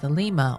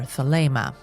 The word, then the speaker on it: Thelema: This period is important for the later development of his system known as Thelema or Thelema. Pronunciations differ.